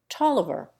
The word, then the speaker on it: Taliaferro: And Taliaferro, Tolliver.